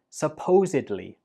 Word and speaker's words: supposedly: We pronounce this as supposedly. Supposedly. Altogether, supposedly. And there are two important things you should know. The stress goes on the second syllable, supposedly, and at the end, we do not pronounce it like bli.